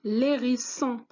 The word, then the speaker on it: hérisson: Nous avons un hérisson ou bien l'hérisson. Regardez, je ne vais pas prononcer H puisqu'elle est muette.